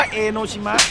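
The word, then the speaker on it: 江ノ島: เ ซื้อ อี โนชิ เป็น ความ เข้า ใจ ผิด นะ ครับ อ่าน ว่า เอโนชิมะ ไม่ ใช่ ใช่ อย่า เถียง อย่า เถียง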